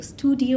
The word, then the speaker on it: StuDIYo: think of this name so studio lab and it's spelled very differently right it's 2 di y o lab so yes exactly how